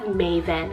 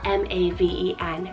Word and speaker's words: Maven: Then we have Maven, spelled M-A-V-E-N, Maven, and this one's Hebrew originated, meaning one who understands.